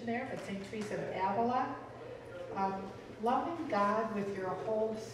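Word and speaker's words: Ávila: have saint teresa of avia if we're taking the spanish pronunciation there the same trees of avila loving god with your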